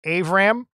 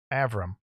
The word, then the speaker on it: Avram: I normally say Avram, which I guess his family gets a kick out of because it's my Chicago accent versus the English accent that's going on over there.